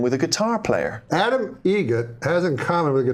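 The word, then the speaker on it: Eget: It's a joke, an Adam Egret joke. How do you say the name? Adam Egret. Egret. Spelt differently. Like the bird.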